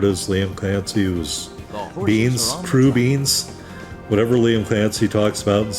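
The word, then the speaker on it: crubeens: So yeah, crew beans, that's how you say it.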